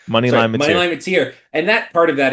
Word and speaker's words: Mateer: Moneyline Mateer.